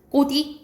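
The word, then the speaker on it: 꽃 위: 그래서 어떻게 발음되냐? 꼬디 이렇게 발음된다라고 보면 돼요.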